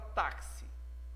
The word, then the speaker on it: táxi: vejamos em baixo ainda a palavra táxi táxi ele pronúncia o KS né não KS da coca-cola